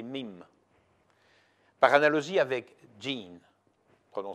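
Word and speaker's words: mème: il leur a donné le nom de mime prononcé mime par analogie avec dean colons ces gènes en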